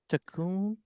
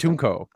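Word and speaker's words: Katuunko: He then sends Savage to Toydaria to capture King Takun. Katunko. Takun. Katunko. Katunko. Dude, I'm so bad at I pronouncing.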